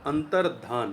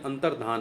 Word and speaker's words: अंतर्धान: अंतर्धान, ध्यान नहीं, अंतर्धान है।